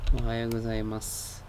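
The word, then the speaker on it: おはようございます: it as ohayou gozaimasu, like a silent S without the U.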